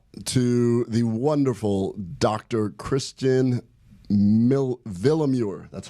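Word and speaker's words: Willeumier: Kristen Villamure.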